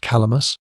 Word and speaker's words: Kalamus: 3 miles east of that fortress lies a strong castle, whose name, pronounced Calamus, is probably the same with the Cadmos of Arabian historians and geographers.